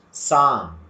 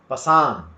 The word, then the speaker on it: psalm: Psalm. Don't say Pasam. Don't say Pasam. We have to say Psalm.